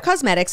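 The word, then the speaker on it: Causemetics: Cosmetics is spelled, I'm not just talking like I'm from Long Island, like it's cosmetics. C-A-U-S-E.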